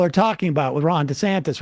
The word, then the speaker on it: DeSantis: most recent pronunciation was the newest one is the DeSantis okay the the D santis was too like ethnic sounding like honestly like either Two Italian or maybe two Latin you know yeah and